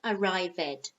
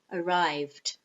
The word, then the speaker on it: arrived: So for example, walk, the infinitive has one syllable, walk. The past simple has one syllable, it's walked. The same with arrive, it's two syllables, arrive, arrive. And the past simple has two syllables. It's not arrived, no, arrived.